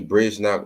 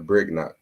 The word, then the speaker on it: Brignac: Some people pronounce the G, some people don't. They say Brignac or Brignac, but I just say Brignac.